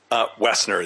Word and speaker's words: Woessner: It's Woessner. Did I say that right, by the way? Woessner, the O is silent.